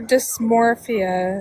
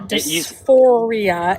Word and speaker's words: dysphoria: You're not even pronouncing it correctly. gender dysmorphia. It's gender dysphoria and cisgender meaning non-trans people also are affected by gender dysphoria.